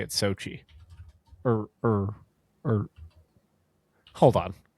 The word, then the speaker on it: Xochitl: and it looks like if you're a native English speaker looking at it, it looks like X- Xiatl or something. And I think it's pronounced like Sochi.